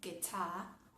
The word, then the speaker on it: guitar: Otro ejemplo, la palabra que si hablamos en inglés de UK, guitar o guitar.